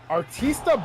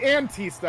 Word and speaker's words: Antista: Oh, I'm sorry, Antista. I apologize. Antista. Woo. Not Antifa.